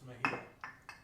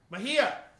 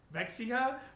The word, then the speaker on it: Mejia: Tim Dodge says the county is pronounced Mejia. Say it again. Mejia. What the hell? Why can't I say that? Mexica?